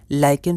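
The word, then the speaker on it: lichen: तो इसे हमें हम लोग लिचन नहीं लाइकेन प्रोनाउंस करेंगे।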